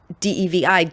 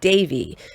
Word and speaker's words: Devi: to pronounce it because classically you would pronounce de vi Davey but everybody pronounced her name Indra Devi and so I'm so